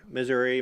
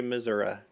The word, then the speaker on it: Missouri: anything no wait no it's pronounced either way Missouri Missouri yeah potato I don't